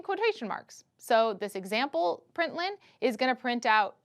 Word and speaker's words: println: do println and then we pronounce it print Lin then you have a